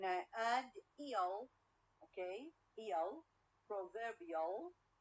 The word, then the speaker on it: proverbial: add ill okay ill proverbial proverbial i change the stress or the stress is changed from the first syllable to the second syllable okay so again we